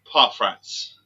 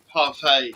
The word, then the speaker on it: parfait: Parfrats. God, she's laughing her head up at me at my pronunciation and stuff. Christ. Parfait, she said. She said parfait.